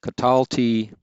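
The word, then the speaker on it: קָטַלְתִּי: the second feminine plural note that for several of these the accent recedes back a syllable so here we have catalta and notice the accent here so katalta and then catalti and then we see it also for the first column plural katalnu for all the rest of them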